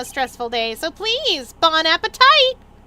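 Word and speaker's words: bon appétit: There's no E at the end of that, so you don't pronounce the T because it's French.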